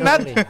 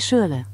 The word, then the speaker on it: Schürrle: Pronunciation yang benar seperti apa? André Schürrle. Schürrle. Gua dong. Shirley. Gua dong. Shirley. Lu tadi apa? Andre Schürrle. Schürrle. R-nya baca Schürrle.